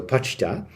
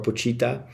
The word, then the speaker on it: Pochita: That's how they pronounce it in the Japanese dub. So Pacha. Um you could probably I don't know what they say in English. Maybe Pita or Pochita, but um I will